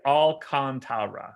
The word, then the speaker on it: Alcantara: cubs and reds okay the baseball reference pronunciation guide on sandy alcantara says what i said look at the difference between raul alcantara and sandy alcantra and how they say to pronounce it all right so sandy is definitely all kantara there's no way around